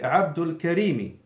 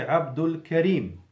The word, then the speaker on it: Abdul Karim: me as you know the cassava is not pronounced if it's in the end of the sentence so I will say it the practical way is me Abdul Karim likewise in a practical